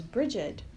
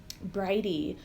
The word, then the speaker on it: Brigid: this time of year is Brigid. Bridie. She has many different pronunciations for her name.